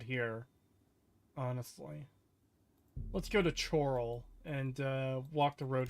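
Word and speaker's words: Chorrol: dun silence fool um it's actually pronounced Coral karal it's pronounced chal why the [ __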